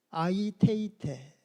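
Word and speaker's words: αἰτεῖτε: 고하고 그래서 순차적이며 동시적이다 구하라는 헬라어 원어가 아이테이테 우리 다 같이 아이테이테 한 번씩 발음해 주셔야 됩니다 하나님의 뜻을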